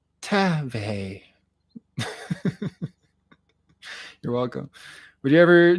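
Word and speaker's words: Teva: Tiva is actually pronounced Tave.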